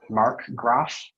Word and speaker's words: Markgraf: The word is Markgraf. That's the only pronunciation.